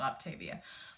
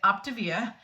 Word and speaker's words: Optavia: it looks like you're it's spelled like Octavia I always thought it was called Octavia but they say it optivia and it is a